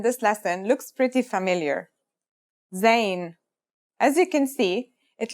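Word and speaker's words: زاي: In terms of pronunciation, you say it just like the English Z as in zebra or elazer.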